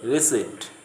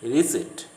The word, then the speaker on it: receipt: They say receipt. The P should not be pronounced. It is receipt.